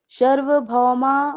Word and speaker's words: सार्वभौमा: जाति देश काल शम्या नव छिन्नाः सार्वभौमा महाव्रतम्। सर्व नहीं है, सार्व है।